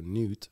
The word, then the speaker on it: Newt: They got this guy, his name's Newt. Newt? Newt. And that's how you say it. N-E-W-T.